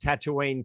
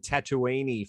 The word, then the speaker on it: Tatooine: mind you i i i pronounced tatooine tattooini for years because uh and then